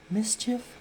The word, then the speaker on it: MSCHF: so there's this organization it's called mischief i guess it's spelled mschf it's basically i guess